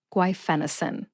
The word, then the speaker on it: guaifenesin: put all four syllables together and you get guenin emphasize Fen see if you can hear the emphasis when I say it again guenin guenin what's my source I have two they are